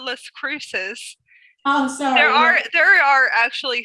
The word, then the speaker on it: Las Cruces: Los Cacos or something. Cacos. How do you pronounce it? What is it? Los Cacos. I call it Las Cruces.